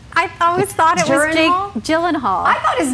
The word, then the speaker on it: Gyllenhaal: have said gyllenhaal too so gyllenhaal are you ready to hear this you're not going to believe me you'll think i made this one that is jake yelan halo nuh-uh oh my god